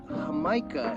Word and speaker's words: jamaica: If you're looking for it in a Mexican store, jamaica is how it's pronounced, but it's spelled Jamaica.